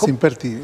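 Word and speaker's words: Simpértigue: Es sin pértigue. Es sin pértigue. Aclarado. Definitivo. Sin pértigue.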